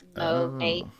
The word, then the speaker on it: Monat: So it stands for modern nature. So like Monat.